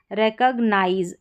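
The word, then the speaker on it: recognize: यहां पर जो सी ओ जी है इसको कग करके आप प्रोनाउंस करेंगे। यहां पर दे रखा है रिकॉग्नाइज।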